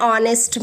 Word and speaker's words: honest: it honest so an honest man it h is a consonant but it produces the sound of o which is a vowel so we are using